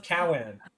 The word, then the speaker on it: Cowan: Cowan is not pronounced like that. How was Cowan meant to be pronounced? I I I'm sick of pronouncing everything incorrectly. How do you pronounce Cowan? How do you pronounce it? Well, it's just Well, it's just Cowan, isn't it? What am I saying wrong? Cow and cowan. Oh, it's cuz it's cuz they elongate the A.